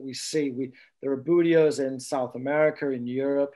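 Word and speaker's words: Buteos: explanation to help remember and i'm going to pronounce this wrong budios perfect yeah yeah so the budio is um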